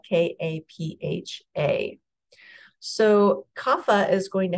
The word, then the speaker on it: kapha: Dosha is kapha and it's pronounced or it's pronounced kapha it's spelled k-a-p-h-a so kapha is going to have the qualities